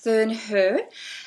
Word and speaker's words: Thurnherr: today we have and her surname is pronounced ther her she has given me the Swiss pronunciation I'm